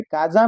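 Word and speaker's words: casa: तो कहने का मतलब यह है कि अगर दो वोवेल के बीच में एस आता है तो उसका जो प्रोनाउंसिएशन होता है वह ज का होता है। तो काजा हो जाएगा, मेजा हो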